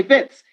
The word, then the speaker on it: Wits: a sound bits okay don't pronounce the w okay bits in johannesburg in uh